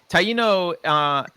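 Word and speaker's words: Taíno: Is that how I pronounce? Did I pronounce it wrong or? Yes, that's right. Taino. Okay, Taino.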